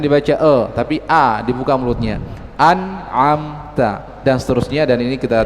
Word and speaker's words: أنعمت: Ya, beliau contohkan tadi pada lafaz an'amta, a jangan dibaca e. Ya, beliau sebutkan tadi ya, jangan dibaca tapi a dibuka mulutnya. An'amta dan seterusnya, dan ini kita telah baca bersama di hadapan Syekh.